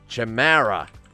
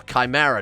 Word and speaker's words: chimera: like um Cerberus aa Chamara or chimera depending on how you want to pronounce it yeah that's a spell